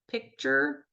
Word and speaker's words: picture: Um or congratulations sounds a lot like a ch or picture sounds a lot like ch. And that's because of the way we're passing sounds in our mouth.